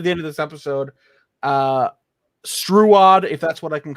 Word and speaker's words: Struod: pronounce it like trout, but with a S. Yes. Okay, Struod.